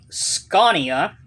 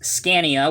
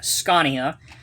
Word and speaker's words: Scania: to this set this is and the correct pronunciation is scania even though you may think it's scania with the a it is scania it's the tactical command center but for this